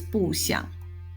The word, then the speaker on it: 不想: When followed by a character with a third tone, 想, the phrase is pronounced as 不想.